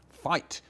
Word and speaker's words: fight: And that's why we have those GHs that we never, but we don't say them anymore. Fight. There's no sound in it at all.